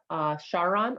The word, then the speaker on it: Charon: Its main moon, Charon or Charon, it's pronounced both ways, is orbiting quite closely to it.